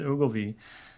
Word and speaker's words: Ogilvy: Nonfiction, uses the life of, is it James Ogilvy? Am I pronouncing that right? Okay, James Ogilvy, as a window into early American political and celebrity culture.